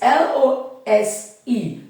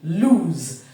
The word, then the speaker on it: lose: to tell you that when you come to the s e at the end we say loose meaning the end part part of the word with l o o s e the end part which is s e sounds as a voiceless sound s but when it is l o s e lose the end part s e sounds as a voice sound lose I won't go back